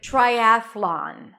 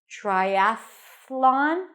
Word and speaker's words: Triathlon: wrestling wrestling and lastly we have the word Triathlon Triathlon we save the best for last you